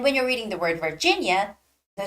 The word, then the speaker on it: Virginia: to Virginia and when you're reading the word Virginia the stress goes on the second eye Virginia okay so reading English names are is tricky